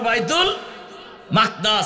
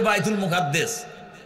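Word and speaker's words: بيت المقدس: পারবেন নাকি বাইতুল মাকদাস আরবি উচ্চারণ হলো বাইতুল মাকদাস আর আমরা বাংলায় বলি বাইতুল মুকাদ্দাস কি বলি না এটা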